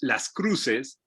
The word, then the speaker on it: Las Cruxes: the air uh is that the name is pronounced las cruces uh but it's spelled with an x is